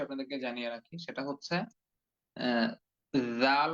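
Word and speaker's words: ذال: জানিয়ে রাখি সেটা হচ্ছে জাল অক্ষরটা কিন্তু একদম ধা অক্ষরের মত করে আমরা পূর্বে যে একটি অক্ষর পড়েছিলাম ধা সেই থা অক্ষরটির মত করেই উচ্চারণ করতে হবে শুধুমাত্র পার্থক্য বা পরিবর্তন হচ্ছে ছা অক্ষরটির উচ্চারণ ছ এর মত আর জাল অক্ষরটির উচ্চারণ অন্তর্জ এর মত হবে তাহলে হুবহু ছা অক্ষরের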